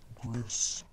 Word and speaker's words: Gris: It's pronounced Gris.